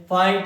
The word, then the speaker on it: fight: FIGHT, इसको क्या बोलेंगे? फाइट।